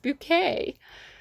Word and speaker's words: Bucket: foot in the grave where she's called mrs bucket i think it's spelt bucket where she always goes no i'm mrs bouquet i put my heart